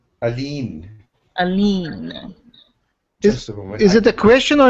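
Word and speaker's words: Aline: child's name is arlene that's a l-i-n-e but it's pronounced a-l-e-e-n a lean is it a question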